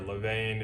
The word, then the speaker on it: levain: You're gonna make what's called a leaven, not like the number 11, but a leaven, some people call it, or levain. It just depends how you pronounce it.